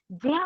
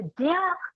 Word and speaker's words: ज्ञ: हम उच्चारण इसका ज्ञा करते हैं, जबकि इसका सही उच्चारण संस्कृत में ज्या होना चाहिए, ज्या और या। तो ज्या इसका उच्चारण सही है, और इसीलिए इस ज्ञा का उपयोग प्राकृत में नहीं होता है।